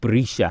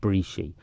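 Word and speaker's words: Breeshey: A good, on pronunciation terms, the EY at the end of Manx words isn't pronounced as you would in English, basically. But people know that, like Brisha has an EY at the end, but it's not Brishi.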